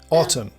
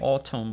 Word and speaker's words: autumn: Autumn, actually. Autumn. We pronounce the T's.